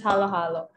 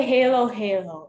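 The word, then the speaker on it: halo-halo: Yes, this is halo halo. Please don't say halo halo. It's halo halo.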